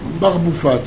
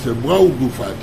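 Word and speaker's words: brau bufat: Oui, parce que souvent, il y en a qui le prononcent mal. Ils parlent barboufat, brau bouffat.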